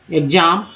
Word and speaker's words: exam: एक और उच्चारण हो जाता है एग्ज, ठीक है, एग्ज। जैसे कि EXAM एग्जाम, या EXCUSE एक्सक्यूज, है ना। तो ये सब चीज़ है।